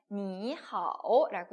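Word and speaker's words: 你好: 근데 우리가 이제 니하오라는 표현, 삼성이 붙었으니까 제가 앞에는 이성이라고 읽었어요. 기억나시죠? 네, 성조 우리가 표현할 때 삼성이 합쳐졌을 때는 앞에는 이성으로 읽는다라는 거 같이 다시 한번 기억을 해주시면 좋겠습니다.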